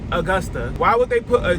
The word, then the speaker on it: Augusta: words as reference when you like need to pronounce a new word. So obviously it's gonna be Augusta, like August. Duh, right? Oh, negative. But apparently it's Augusta.